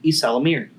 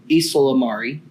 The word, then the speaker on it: Ysalamiri: featuring luke skywalker and the islamir or islamari however you want to pronounce it those are the two most prominent pronunciations of that lizard that i know of and uh i prefer isala miri i just think that sounds a little bit better but teaches and